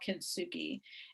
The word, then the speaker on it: kintsugi: How do you pronounce that? Kintsugi?